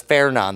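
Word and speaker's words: Fernand: So that's Fairon. That's the correct pronunciation.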